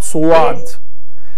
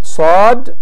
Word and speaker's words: ص: Sad, the letter Sad, it is Sad, not Suad. It is Sad, not Suad. Such as, إِنَّ اللَّهَ مَعَ الصَّابِرِينَ وَاصْبِرْ وَمَا صَبْرُكَ إِلَّا بِاللَّهِ وَأَقِمِ الصَّلَاةَ طَرَفَيِ النَّهَارِ وَأَقِمِ الصَّلَاةَ طَرَفَيِ النَّهَارِ الصَّلَاةَ. So the proper pronunciation of the Sad is Sad.